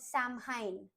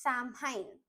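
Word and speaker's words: Samhain: They celebrated a festival called Sam Hine, spelled F A M H A I N, but pronounced Sam Hine.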